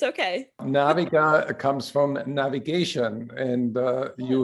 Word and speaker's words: Naviga: a 20 year old sales recruiting company called naviga did i pronounce this right naviga it's okay naviga comes from navigation and you help companies navigate